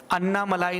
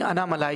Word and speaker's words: अनामलाई: उसमें जो obvious comments हैं वो मैं नहीं बताऊंगा कि ये चीज़, इस शब्द का उच्चारण अन्नामलाई नहीं अनामलाई है।